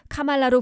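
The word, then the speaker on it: Kamala: 그녀의 이름 카말라는 인도의 산스크리트어로 연꽃이란 뜻이며 정확한 발음을 놓고 카말라는 카마에다가 라를 붙여 카말라로 부르면 된다고 설명했습니다.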